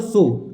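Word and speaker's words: Tso: अब देखिए एक चीज़ ध्यान रखिएगा कि जो तिब्बती लैंग्वेज है उसमें टी एसओ का मतलब सो टी साइलेंट होता है।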